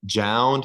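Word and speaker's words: JJJJound: pronounce it necessarily, but Jound. It's like the three Down, yeah, J's, it's Jound, down.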